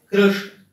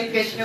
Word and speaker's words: कृष्ण: वो किशन बोल देंगे, कृष्ण बोल देंगे, कृष्ण बोलने में अच्छा। फिर कृष्ण में एक समस्या और है, बीच में जो श है वो मूर्धन्य शकार, उस मूर्धन्य शकार का उच्चारण बड़ा कठिन है।